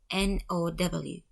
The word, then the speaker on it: NOW: another acronym is now n-o-w all of them are written in capital letters it stands for national organization of women now is pronounced as a word not as letters we do not say n-o-w and pay attention there